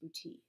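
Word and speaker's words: boutis: it booty and I know that's how it's pronounced booty the art and technique of a provincial treasure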